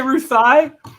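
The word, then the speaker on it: Ruthye: continuity or roof i depends on how you want to pronounce it um it's r-u-t-h-y-e well you invented her what i say ruth thai okay yeah i i she's named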